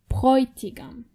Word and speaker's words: Bräutigam: Remember, when you have A umlaut and O together, they are pronounced oi, Bräutigam.